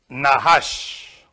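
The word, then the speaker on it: נחש: Nahash. This is how you say in Hebrew.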